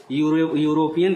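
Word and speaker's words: European: ई क्या है, वावेल है, लेकिन यूरोपियन का उच्चारण जो है ये भी यू से हो रहा है।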